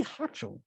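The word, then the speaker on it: Hochul: of new york's name because i don't cathy hutchell hachel thank you so governor kathy hatchell said she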